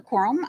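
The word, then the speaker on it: Crum: it up to or bring uh up corm she's our director of our realtime crime Center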